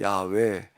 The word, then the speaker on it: 야훼: 요즘은 또 이제 새로운 번역에서 야훼 이렇게도 얘기를 하는데 이제 같은 이제 단지 이제 발음만 다를 뿐이지 같은 하나님을 얘기를 하는 건데요.